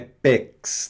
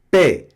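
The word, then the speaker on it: paix: Esse X não pronuncia, hein? Não é pex, não é pé.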